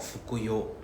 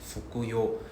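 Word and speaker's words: 服用: It's called 服用. Right? Literally the same Chinese characters, but it's pronounced as 服用.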